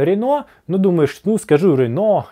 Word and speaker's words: Renault: Renault, с ударением на первом слоге. Renault, или, как можно сказать, Renault. Renault, то есть вторая модель находится под напряжением. Рено. Рено, Рено. Помните, что допустимы два варианта .